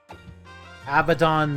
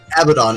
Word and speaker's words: Abaddon: one now our cat abaddon the noibat and macho man the heart abaddon